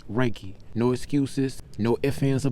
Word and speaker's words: Rakie: more importantly Rocky himself for mispronouncing his name is raiki no excuses no ifin